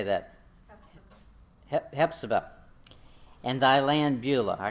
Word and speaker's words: Hephzibah: Hephzibah.